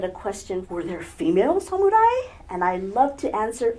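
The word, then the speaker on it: 侍: ask all of you please help to spread the correct pronunciation of the word suai Samurai is derived from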